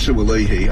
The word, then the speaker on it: Sui: problem well Joseph sui I'm now told by our pronunciation expert that it's sui after I've been calling him swah on his instructions I